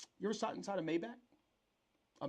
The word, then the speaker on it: Maybach: Have you ever sat inside a um you ever sat inside a Maybback? A Maybach? Is it a Maybach? Maybach.